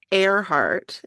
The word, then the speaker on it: Earhart: her last name is it's airart is how it's pronounced yeah and she loved